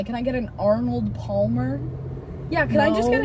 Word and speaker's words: Palmer: You don't even have to pronounce the L.